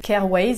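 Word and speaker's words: Kjaer Weis: récemment c'est le correcteur l'anticernes caire wade apparemment cette marque se prononce comme ça ça s'écrit giles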